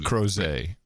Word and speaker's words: Crozet: Crozet. Rhymes with Jose. It's French, you boneheads.